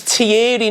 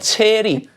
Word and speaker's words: Thierry: His name's Tierry, not Terry.